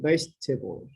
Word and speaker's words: vegetable: Notice that the unstressed vowels are not pronounced.